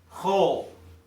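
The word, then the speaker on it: כל: detailed hebrew grammatical rules it's pronounced whole in all cases okay 99 of the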